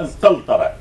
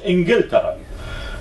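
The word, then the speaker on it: إنجلترا: تضبط مثلا جوتن المغاربه والاندلسي يكتبون الكاف قافا فيقولون يعني انجلتره يكتبوها انقلترا هي في الحقيقه لازم ان تلفظ انجلترا لان القاف عندهم هي قف القاف الاعجميه يعني كما يسمونها وذلك هي وتنده مثلا كيف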